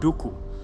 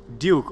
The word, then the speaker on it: Duku: name in different places it's said in different ways so some people call me count dooku and other people may call me duke or some people um even in some african countries they say my name with a click like can i get